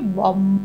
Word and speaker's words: বং: এই বম উচ্চারণটা করতে হবে এরকম ভাবে, বম। এই যে ভেতর থেকে তুমি ম উচ্চারণটা তোমার ভেতরে থাকছে, তাতে কি হচ্ছে না অ্যাক্টিভেট হচ্ছে তোমার স্বাধিষ্ঠান চক্র।